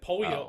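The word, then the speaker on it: pollo: this weekend that like it's not Polo po how we're still doing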